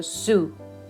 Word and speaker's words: sous: We're not pronouncing the last S here, so sous.